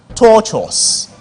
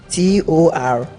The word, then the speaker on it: tortuous: The word is pronounced tortuous. Bonus to Mana International School. Tortuous. Take it. Torturous.